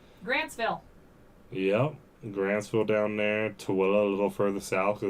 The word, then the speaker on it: Tooele: Tooele a little further south, because that's the Tooele Valley right there. Mm-hmm. If you want to piss off the people in Tooele, pronounce it Thule.